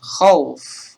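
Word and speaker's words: خوف: Nah, cara membacanya, ini juga termasuk, teman-teman, khauf, karena fathah sebelumnya dan ada waw sukun, dan huruf terakhirnya adalah sukun karena waqaf.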